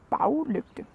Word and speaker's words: baglygte: You see, we don't pronounce behind the same way. So if it's in a word, if we say bag and then put it with lygte, then it becomes baglygte. We do that sometimes, then